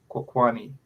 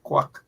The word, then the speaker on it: kwani: that person the corre correct pronunciation of quani as opposed to quack kwani quack quani you